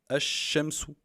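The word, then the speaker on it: الشمس: D'abord les exemples, par exemple, Al-Shams, le soleil, on prononce comme ça, Al-Shamsu.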